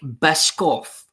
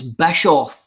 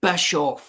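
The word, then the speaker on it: Bischoff: The guy's name is an Eric Bisoff. It's Bishoff. It's a silent. It's Bishoff.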